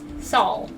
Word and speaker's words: Saul: your name soul song Paul with an S okay Saul thank you Saul knows